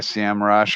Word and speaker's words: SEMrush: expect have subscription to SEM rush or semrush depending on how you pronounce it I have I